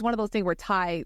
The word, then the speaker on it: Thai: But it's one of those things where Thai literally rhymes with high, and I'm like, why don't you just whatever?